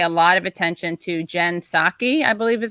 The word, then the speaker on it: Psaki: And I think we should all pay a lot of attention to Jen Psaki, I believe is how you pronounce her name.